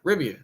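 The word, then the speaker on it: Rivian: yeah I believe I did say it right rivan I did that I was about to spell it out because I thought I said it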